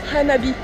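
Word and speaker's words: 花火: Fun fact, firework in Japanese is pronounced "hanabi" which literally means "fire flower".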